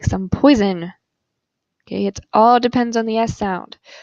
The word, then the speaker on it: poison: for poison, it's pronounced poison. If you have one S in the middle of a word, the S is pronounced like a Z, z, poison, poison.